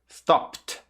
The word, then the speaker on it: stopped: Termina com P. Agora junte o som do T. Stopped. Stopped.